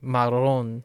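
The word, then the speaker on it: marrón: Well, I'll have to think about, like marron. Marron is okay because the accent is on the ron.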